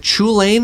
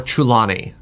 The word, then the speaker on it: Chulane: Now, I'm going to mispronounce this. Is it Chulane or Chulane?